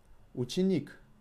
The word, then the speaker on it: ученик: Ученик. With the emphasis on «и».